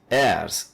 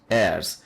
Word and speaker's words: heirs: treasures so inheritors means heirs here h is silent heirs we are inheritors of